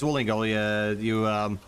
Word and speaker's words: Duolingo: Yeah, it's Duolingo. That's the right way to say it.